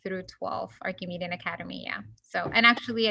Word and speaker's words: Archimedean: Yeah, it is Archimedean. Like Archimedes.